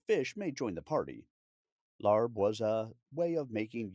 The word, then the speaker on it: larb: Larb, also found with the spelling lab, which is closer to its phonetic pronunciation, is a beloved culinary diplomat of Laos and is often touted as that country's national dish.